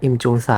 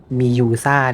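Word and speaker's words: Mjøsa: ม่ ไ ด้ อ่ า น ว่ า Imjusa น ะ เ ข า อ่ า น ว่ า Miusa Lake น ะ ค รั บ ก็ เ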